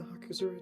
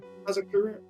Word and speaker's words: Hazakura: Hazakura? Yeah, there you No, go. I'm just gonna keep pronouncing it the way I was doing it before. You don't want to start the word with hawk.